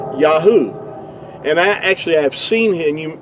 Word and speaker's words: Yahu: Uh Yahoo would give you the sound. Um these three letters here the ye the yod yad and the he and the ua would give you yahoo and uh even Benjamin